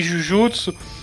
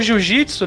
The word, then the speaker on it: jujutsu: de Samurai e de jujutsu o jiu jitsu né na pronúncia aportuguesadas mas a gente vai